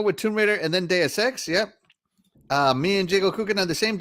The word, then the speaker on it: Deus Ex: Deuce Ex. That's not how you say it. Deuce Ex. Let's see. Jesse Darby's going to go with Tomb Raider and then Deus Ex.